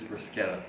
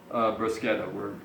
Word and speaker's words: bruschetta: I think the proper pronunciation is bruschetta, but that'll be determined some other time.